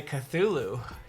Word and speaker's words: Cthulhu: is totally I just learned how to say Cthulhu took a few days to learn how to say that word you did pronounce it like four different times yesterday oh